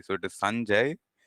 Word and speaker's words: Sanjay: so it is the the pronunciation and the emphasis is on the first syllable usually so it is Sanjay Sanjay no not today okay